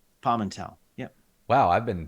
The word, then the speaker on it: Pamental: tall it is Pimentel everywhere or palm and tell if you want to pronounce it more like I would but that's fun either way but wait say it again palm and tell palm and tell yep wow I've been saying your name wrong